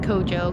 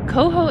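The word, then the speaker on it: Cojo: not sure coho anchorage i keep calling it kojo because that's how it's spelled but i guess now that we're getting closer to mexico our jays are pronounced as h's so coho anchorage is beautiful and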